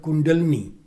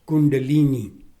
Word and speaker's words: kundalini: in the waking state your dormant energy called kundalini mispronounced as kundalini rises in the central channel and goes up